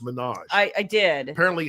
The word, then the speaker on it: Minaj: Monet or the Minaj you told me it's pronounced Minaj I I did apparently